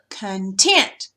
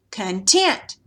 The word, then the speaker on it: content: If you change the syllable, from this one's the one with the accent, but if you make this one, then you say the word differently.